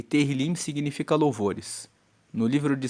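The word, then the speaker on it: Tehilim: O livro de Salmos no hebraico, ele se chama Terilim. Se escreve T E H I L I M E Terlim significa louvores.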